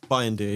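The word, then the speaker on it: Bayındır: Bayandir, yeah.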